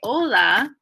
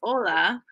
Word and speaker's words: hola: H means wave but in both cases the H is silent so finally what in